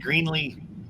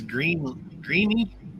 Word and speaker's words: Greeley: I've always said Greenlee, Colorado, and it's Greeny.